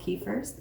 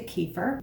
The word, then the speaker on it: kefir: which it's pronounced but we don't tend to put stress on the last syllable in english so it's been americanized to kefir but kefir is a